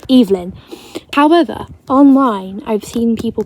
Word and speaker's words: Evelyn: this hi hello and their Nam names were pronounced eelyn their names were pronounced evein right and that makes sense to me because Evelyn however online I've seen